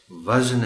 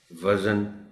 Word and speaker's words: وزن: اشعار میں ہوتا ہے۔ تو دونوں طرح کے استعمال میں اس لفظ کو غلط بولا جاتا ہے، یعنی وزن بول دیا جاتا ہے۔ چونکہ تھوڑا سا احتیاط چاہیے اس لفظ کے تلفظ کو بولنے میں، تو یاد رکھیے کہ یہ لفظ وزن ہے، وزن نہیں ہے۔ رحم ہے، رحم نہیں ہے۔ یہاں بھی یہ وہی